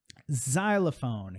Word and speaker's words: xylophone: Xerox, essa é a pronúncia da marca, ok? Xerox, Xerox. Xylophone, que é aquele instrumento, né?